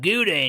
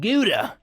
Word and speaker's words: gouda: gouda we got some Gudda in here nothing wrong with some guda see it even sounds like the word good that's how you know